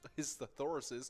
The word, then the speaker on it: thesauruses: Next up on our fun facts, we have looking at whether the plural of thesaurus is thesauruses or thesauri. And, apparently it's accepted. Both is accepted, saying thesauruses and thesauri, but the proper way to say it is thesauri.